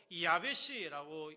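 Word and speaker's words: יבשה: 히브리어로 이야베씨라고 발음을 하는데이 히브리어 동사는 히브리어 성경에서 물이 말라버린 시내가 시들어 버린 풀 생기를 잃고 굳어 버린 것을 표현할 때 자주 쓰이는 단어입니다.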